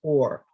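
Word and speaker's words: אור: They are both pronounced or. They're spelled differently, but they are both pronounced or.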